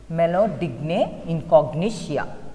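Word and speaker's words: Meloidogyne incognita: nematode is digna incognition it is pronounced like this melody incognition that's the name of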